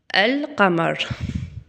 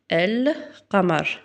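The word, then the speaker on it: القمر: Et comme ici, al kamar, on prononce bien, regardez, vous entendez bien elle. Lamar. El kamar qui veut dire la lune.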